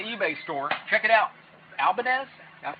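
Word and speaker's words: Ibanez: Albadez. Am I saying Am I saying it right? All right. Albanz. Abanz. I don't know. It doesn't matter. It's a super nice guitar. Ibanz. Ibanz.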